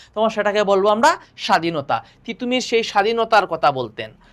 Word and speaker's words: তিতুমীর: টিটুমির বড্ড অসুবিধা আমরা একটু আগে পড়ছিলাম না দ এর উচ্চারণ ইংরেজরা ডি এর মত করে। কিসের মত করে? ডি এর মত করে। ওরা দ এর সুন্দর করে উচ্চারণ করতে পারে না। সেজন্য বা ত এর উচ্চারণ ওরা ত এর উচ্চারণ ওরা কিসের মত করে? টি এর মত করে। টিটুমির। সেজন্য তিতুমির না বলে টিটুমির বলতেছে।